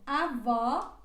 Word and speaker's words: avó: oferta ela se pronuncia mais aberta com quando ela vai com este assento por exemplo avó avó e ela se pronúncia